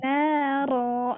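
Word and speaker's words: نارا: kelas tahsin, pasti nanti bacanya bukan ron lagi, tapi naro. Nah bacanya jadi 2 harokat ro-nya dan bukan dibaca ron lagi, tapi fathah tanwinnya ini diganti menjadi mad. Jadi dibacanya 2 harokat.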